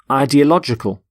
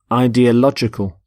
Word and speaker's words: ideological: So the plural of ideology is ideologies, and the adjective, ideological. Ideological. The stress is on lodge in the middle.